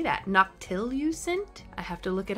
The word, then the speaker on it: noctilucent: Noctilucent? I have to look it up real quick, because I don't know how to say it. Noctilucent. It's what we call noctilucent clouds. Okay, noctilucent.